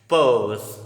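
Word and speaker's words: purse: नजमाज़ पर्स, नॉट पर्स, पर्स, आर is silent.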